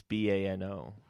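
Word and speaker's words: Baño: Banjo is Bano. You're right, sure. With the Enya. With the asterisk, the Enya on it.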